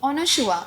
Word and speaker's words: Anasua: तो करण जौहर ने बोला था कि Anushua. I was like, sir, oh my god, how are you taking my name so properly, because that is my pronunciation.